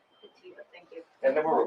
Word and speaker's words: Petito: Can you pronounce her last name for us? Sure, it's Petito, Petito. Petito, thank you.